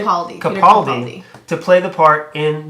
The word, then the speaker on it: Capaldi: Capaldi.